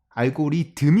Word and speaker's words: 알고리듬: 하는거 빅스 대 다 할 때 그 그 발음 이거든요 그래서 그게 굳이 항 말로 비슷한 것을 내면은 알고리듬 이 맞겠다 고 생각했어요 그래서 제가 여기 처음